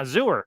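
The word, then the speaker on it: Xur: Yeah, Zooer. Rhymes with sewer.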